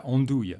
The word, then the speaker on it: andouille: Yeah, andouille, especially because of the sound, andouille. So how we pronounce andouille?